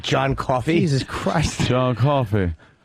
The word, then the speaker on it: Coffey: John Coffey. Not, what is it? Like the drink, but not spelled the same.